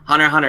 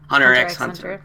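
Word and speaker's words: Hunter × Hunter: no but that's how you that's how it's pronounced Hunter hunter it's not pronounced honor x hunter no no I know but the character is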